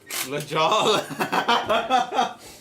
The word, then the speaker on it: La Jolla: Oh no, La Jolla. Oh yeah. La Jala. I like how you pronounced it.